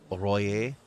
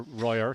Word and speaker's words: Royer: And Angela Royer, as she tells me it's pronounced. Oh, sorry, I always call her Royer, so my apologies to Angela. Royer, it's French. It's French.